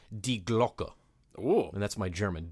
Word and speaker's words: Die Glocke: So it's actually two words, D-I-E, as like die, as we would pronounce it, and Glocke, not Glock like the gun, but with an E at the end of it.